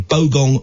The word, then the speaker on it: bogong: Have you ever heard of the I'll say it properly, bogong moth?